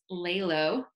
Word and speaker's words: LALO: Her new space that she opened in Media is Love and Light on Orange, also known as LALO rhymes with halo.